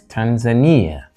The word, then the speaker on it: Tanzania: then we have this so that is Tanzania tan Ania with a stress on the third syllable Tanzania not Tanzania or